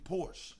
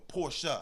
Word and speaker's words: Porsche: a a a highend Porsche like or porsa excuse me oh that's that's the that's how you pronounce it porsa yes so yeah I'm